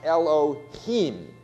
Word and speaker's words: Elohim: So that word is actually pronounced Elohim.